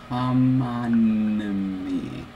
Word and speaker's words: homonymy: Except the first time you had a couple extra syllables. Homonymy. Right. Okay. You're fine now. Before, you just had extra syllables.